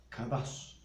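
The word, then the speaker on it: קדש: con mi pareja con un término que se pronuncia cadas el significado de esta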